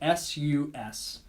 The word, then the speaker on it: sus: And that's how you pronounce it, S-U-S, sus.